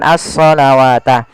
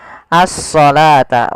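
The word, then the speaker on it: الصلاة: ini bukan asata nah ini jangan kita baca dengan asalawata tapi di sini kita bacanya dengan asalata wau di sini dianggap tidak ada karena di sini dalam bentuk penulisan rasum utsmaninya wa aqimus shata Bukan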